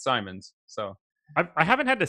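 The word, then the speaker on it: Simons: comes to the the end for me Simon's pronunciation I was told I was told definitively it was Simmons and I'm pretty sure that guy was just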